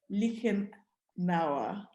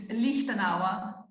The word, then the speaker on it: Lichtenauer: So please join me in welcoming Angela Lichtenauer.